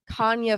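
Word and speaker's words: Canha: on the cob with Canna's face on it, and it just says Canna corn. I was like, this ruins it because that's not how you say it. So then Chris came up with Kanya Feel the Love Tonight.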